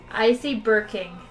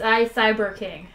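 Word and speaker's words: iCyberKing: But it's I Cyber King. You have to read the whole thing before you try to pronounce it.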